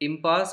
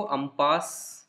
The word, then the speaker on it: impasse: इम्पास को अम्पास की तरह भी प्रोनाउंस किया जाता है जैसा आपके टेक्स्ट बुक में लिखा है, बट यू can also say इम्पास.